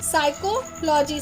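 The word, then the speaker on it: psychology: हैं इसको बोलते हैं साइकोलोजी साइकोलोजी पी लिखा गुरूंग पीछे लिखा है साइकोलोजी क्यों बोलने तो यह इसको बोलने का तरीका है क्योंकि इसमें छुपी है वर्ड व हमारा साइलेंट है तो अब यहां पर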